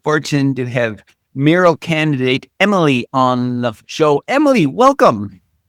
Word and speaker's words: Emil: Today we have the good fortune to have Mural candidate Emily on the show.